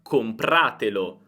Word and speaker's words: compratelo: Oppure comprate, ora vogliamo dire comprate quella cosa, una cosa maschile, compratelo. Compratelo. L'accento non si sposta, rimane sempre su comprate.